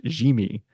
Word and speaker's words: Yimi: The fact that they traded for Garcia, whose first name is apparently pronounced Jimmy, okay, which is surprising, but that's the indicator,